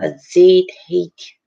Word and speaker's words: agitate: It seems again도 아니고 again도 아니고 이렇게 I나 E가 있을 때는 G 자기 발음이 나와 지읒 발음이 나온다는 거지. agitate, agitate다, agitate다.